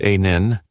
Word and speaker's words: Anil: My name is Anil, pronounced Anin.